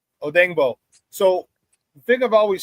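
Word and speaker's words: Odeyingbo: like Austin Booker and Odeno. Yeah, pardon me. I know I butchered his name because it's Odango. Odango.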